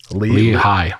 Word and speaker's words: Lehigh: And how do you pronounce the city here? Lehigh.